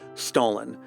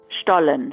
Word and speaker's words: Stollen: For an authentic German pronunciation, I'll leave it to Luisa. Stollen, Stollen, Stollen.